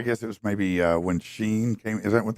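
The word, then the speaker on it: Shein: Now the first, I guess it was maybe when Sheen came. Is that how they say it, Sheen?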